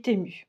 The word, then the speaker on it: Temu: pas comment on dit, moi je dis Temu, voilà, je le prononce à la française.